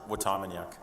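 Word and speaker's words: Watamaniuk: Watamaniak.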